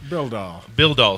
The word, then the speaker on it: Bildahl: And yeah, it's called John Bidall Photography. Bildall. Sorry, I just said your name wrong.